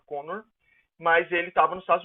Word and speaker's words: Kanner: O autor do diagnóstico, ele é um austríaco, Leo Connor, se escreve Kanner, mas se fala Connor, mas ele estava nos Estados Unidos, num hospital chamado John Hopkins.